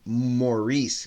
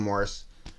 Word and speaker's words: Morris: of my good friends who's also named Morris Gautreaux, but he pronounces his name Maurice Gautreaux. Well, everybody calls him Morris.